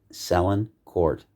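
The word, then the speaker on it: Sélincourt: celine court i believe is german and it's spelled capital s e with the hyphen over it l l-i-n i just lost my place sellin court s-e-l-i-n-c-o-u-r-t sell in court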